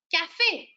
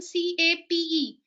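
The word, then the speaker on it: café: If I write on this word, what do I pronounce this word? Come on. C A F E. It is called cafe.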